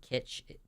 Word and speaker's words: kitsch: Yes, I think kitsch is pronounced like witch.